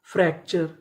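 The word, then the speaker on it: fracture: एफ आर ए सी फ्रैक टी यू आर ई चर फ्रैक्चर फ्रैक्चर फ्रैक्चर का मतलब होता है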